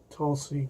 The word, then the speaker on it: Tulsi: around her name right I know Tulsi is pronounced like that because of the plant in India and people eat the leaves from but our last name is